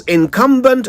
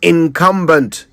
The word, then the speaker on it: incumbent: So, for the love of God, it's incumbent, not incumbent. Incum is not bent. Not if you want to say it right.